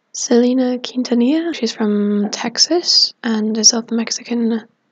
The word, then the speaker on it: Selena Quintanilla: And I think her name is pronounced Selena Quintanilla.